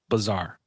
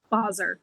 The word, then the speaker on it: Basar: Uh, Bazaar. Boser.